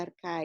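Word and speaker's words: ἀρχή: aquí la palabra principio es la palabra griega parque o arkaitz se pronuncia arca y que quiere decir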